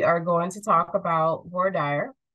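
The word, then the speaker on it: voir dire: going to talk about war Dyer um boardier is how some people pronounce it and it's mainly going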